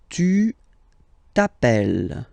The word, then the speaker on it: tu t'appelles: All right, second form, tu t'appelles. Okay, remember, final s not pronounced.